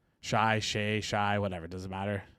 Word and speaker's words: Shai: Shy. Shay. Shy. Whatever. Doesn't matter. Shy. Shay. Yeah. Sh. Come on. Shay. He's an MVP. You got to know how to pronounce his name at this point.